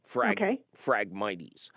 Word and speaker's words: Phragmites: It's PH instead of F. Phragmites.